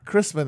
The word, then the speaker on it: Christman: Well, Will Menaker, Matt Christman, Christman. That's me. Which you prefer? Christman is generally how it's pronounced.